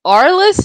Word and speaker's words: Araless: next ours i think it's pronounced arless it's spelled a-r-a-l-e-s-s and this song is